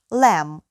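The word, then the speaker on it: lamb: дає bif яловичина друге Лем ягня чіп вівця А м'ясо яке ми з них отримуємо це Лем баранина м б вимовляється як м б німа свиня або порося поки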